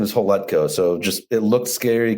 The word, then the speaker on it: Hletko: that's all good man uh last name is holetco so just it looked scary because he got